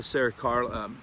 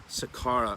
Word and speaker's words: Sakara: I know Paula Saracara, I always get her name wrong, Paula Sakara up at HB Naturals.